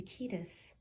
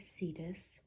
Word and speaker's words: Cetus: been revealed to be the ketus or cetus the ancient greek mythological